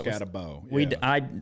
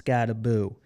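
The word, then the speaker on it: Skattebo: That's how they say it. I thought it was Scatabo. I did too, but they made a correction. It's Scattaboo.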